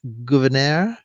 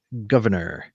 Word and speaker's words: Gouverneur: That's either Gouverneur with the French pronunciation or Governor.